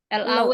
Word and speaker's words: law: L-A-W ya. Bacanya law. L-O. Law. W-nya nggak dibaca.